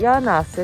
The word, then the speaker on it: 魚梁瀬: 柳瀬の、これ柳瀬って読むな、柳瀬の食堂杉の家。